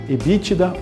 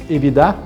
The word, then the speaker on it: EBITDA: Nós vamos falar do EBITDA ou EBITDA, as duas formas de pronúncia estão corretas, um indicador extremamente importante.